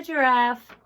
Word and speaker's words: giraffe: A giraffe. He's so cute. Okay, circle that. He has a soft G.